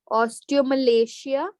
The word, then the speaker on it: osteomalacia: or oste Malia ostale osteomalacia this is how you pronounce it okay osteomalacia and osteoporosis